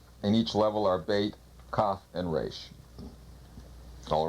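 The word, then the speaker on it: בית: of this second letter of the alphabet is bait pronounced b or V usually it means a house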